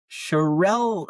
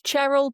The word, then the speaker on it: Cherrell: Um, because I have with me here, Miss Kate Charelle. Am I saying that correctly? It's Cheryl, but you can pronounce it however you want.